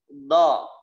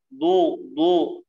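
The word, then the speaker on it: ض: Kemudian di tepi lidah ada huruf do. Jadi tepi lidahnya ya ditaruh di kiri atau kanan atau dua-duanya. Do, do, tidak boleh bacanya du, do.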